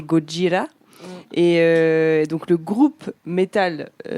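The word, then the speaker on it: ゴジラ: Mais non, j'ai pas grand chose à rajouter, si ce n'est que moi j'avais noté que donc pour la prononciation quand même en japonais c'est Gojira et donc le groupe métal, le groupe de métal français, le groupe métal.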